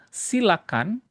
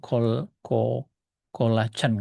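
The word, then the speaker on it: coelacanth: Tidak seperti ikan-ikan ini yang betul-betul sudah punah, silakan bacanya silakan ya, bukan kol koacan enggak ya.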